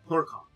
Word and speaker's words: Clurichaun: Keep trying to say their name wrong, even though I got the pronunciation. I want to say it differently, and I know it's wrong. Clurichaun.